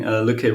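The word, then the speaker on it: Lykke: How is it pronounced? Lücke? It's called Lücke.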